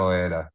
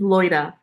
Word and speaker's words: Loida: She's not Loeda, which I don't even think I even say it right still to this day, 9 years later. Is it Loeda? How do you? It's Loida. Loida.